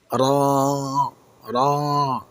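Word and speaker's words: ر: র এতে কোন নুক্তা নেই। এর মাখরাজ হল জিহ্বার আগার পিঠ। তার বরাবর উপরের তালুর সঙ্গে লাগবে। এটি কিন্তু একটু গম্ভীর ও মোটা করে বলতে হবে। র একটু আমার সাথে পড়ুন।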